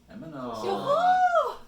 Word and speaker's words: Emanon: Emanon. Alright. You know how I know how to say it? I say Char's daughter's name in my head first, and then add non.